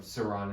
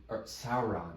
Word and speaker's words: Sauron: that dildo has is the the Ring of Saron until Sauron I'm gonna it's gonna take me forever to